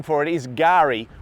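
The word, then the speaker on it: K'gari: Fraser Island, or the other name for it, is Gari, spelt with a silent K, so it's Kagari if you were to spell it phonetically. But it's a silent K, so we say Gari, and that's the Aboriginal name for the island.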